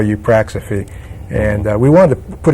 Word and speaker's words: Eupraxophy: the way around right you practice it you practice a fee EU PR ax o